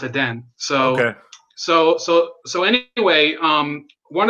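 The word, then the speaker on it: Edén: But in Spanish it's pronounced Eden.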